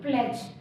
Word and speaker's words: pledge: Are silent, as इन प्लेज। प्लेज में डी होता है, PLEDGE, डी है लेकिन हम उसको बोल नहीं रहे, लिखने में यूज हो रहा है बट हम उसको बोल नहीं रहे।